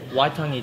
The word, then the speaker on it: Waitangi: What is exactly, I'm not going to say it wrong, Waitangi Day? Waitangi Day.